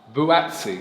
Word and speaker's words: Buatsi: I really don't know how to pronounce his name. Is it Buatsi Butasi? Buatsi.